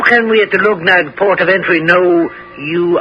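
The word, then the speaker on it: Luggnagg: right outside the town of lugn oh I'll spell that for you l u g n a GG lug nag but guler's crew were suspicious of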